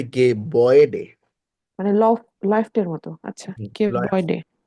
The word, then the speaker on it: Gebäude: আচ্ছা, আমি বলি, কোনো umlaut আয়ের পরে যদি উ আসে, তো এটা হয়ে যাবে ওয়ে। যেমন ওয়ে আমরা নর্মালি যদি উচ্চারণ করতাম, umlaut না থাকতো, তাহলে হয়তো গে বাউডে সে ধরেন। বাট এখন হয়ে যাবে গে বয়েডে।